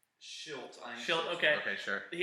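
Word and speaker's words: Shildt: It's Schilt.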